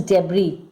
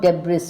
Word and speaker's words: debris: Children, the pronunciation is debris, not debris, okay?